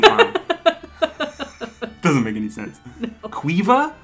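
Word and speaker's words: Caoimhe: doesn't make any sense cueva there is not a single letter in this word that is pronounced except for the first one the rest of the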